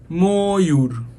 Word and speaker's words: ময়ূর: যেমন দেখো আমরা লিখছি ময়ূর, কিন্তু উচ্চারণ কি করছি? ময়ূর।